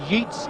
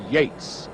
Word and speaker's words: Yeats: argument for all time although it's spelt yeets he pronounces his name yates that comes from the